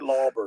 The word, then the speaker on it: Lauber: I said it right, Lauber.